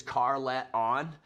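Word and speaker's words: Carleton: i was raised in carlaton uh which is car let on pretty cool it's actually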